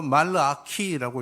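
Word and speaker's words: מלאכי: 책 다음에 있는 말라기 말라기는 히브리말로 말라 키라고 읽는데 나의 심부름꾼이라는 뜻입니다 여기서도 쓰임 말입니다 그러니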